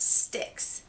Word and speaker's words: Styx: and the River Styx I've heard it pronounced sticks but when I read it in my head it's pronounced spikes and sticks just sounds silly to me let me know what